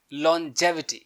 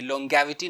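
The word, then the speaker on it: longevity: लॉन्जेविटी, ये जी jaw pronounce करेंगे, ग नहीं, लॉन्गेविटी नहीं बोलेंगे, लॉन्जेविटी।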